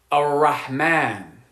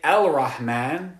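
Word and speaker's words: الرحمن: this make sense so when you have a a sun letter coming after the definite alif Lam you're not going to pronounce the lamb like when we say the name of Allah a Rahman we don't say elrahman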